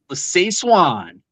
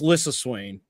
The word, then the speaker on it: Lissa Swain: It's Lissa Swain. Lissa Swain.